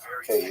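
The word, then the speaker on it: Kyiv: In fact, the great uh Ukrainian historian Kak opined that Kiev cave as it's pronounced today in the Ukrainian pronunciation cave was actually founded by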